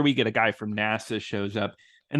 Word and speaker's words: NASA: get a guy from NASA shows up and they pronounce it like Nassau right right that's how